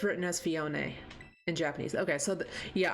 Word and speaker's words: Phione: defer to the Japanese oh it's written as fion in Japanese okay so yeah I do the